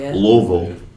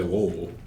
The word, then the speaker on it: Louisville: how you say it it's a Louisville Slugger it's not true or people say loville it's like you missed a whole bunch of other R consonant but and that's that's